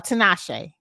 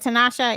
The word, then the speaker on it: Tinashe: nicki minaj dislike uh tanisha uh tinashe is that how they say it tanasha is that the uh rapper shantae yeah i believe that's how you pronounce the name i don't